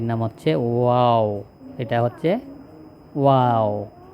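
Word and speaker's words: واو: এটা হচ্ছে ওয়াও। আমরা অনেক সময় আশ্চর্যজনক বা কোন ধরনের সৌন্দর্য দেখে কি বলি? ওয়াও। ওইরকম এর উচ্চারণটাও বলতে হবে। এরকম ওয়াও।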